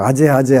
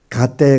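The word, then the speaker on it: गते: 그런데 누군가가 잘못 그게 그 가짜인 줄 모르고 아짜라고 읽어 갖고 아재아제 하는 거야. 그렇게 한번 아재아 해 놓으니까 100년이 돼도 아제아제 하고 앉아 있는 거예요. 갓떼 갓대 바라가대 바라상같때 오디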